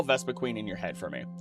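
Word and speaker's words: Vespiquen: It's spelled with only one E at the end, as if to say Vespa Quentin, which is not how it's said in the anime or anywhere else.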